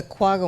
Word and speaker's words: quagga: Is there something that can perhaps eliminate the quagga mussel? Am I pronouncing that correctly?